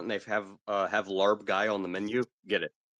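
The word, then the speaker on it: larb gai: a Thai restaurant and they have uh have larb guy on the menu get it it's fantastic lar guy okay it's spelled uh l a r b the time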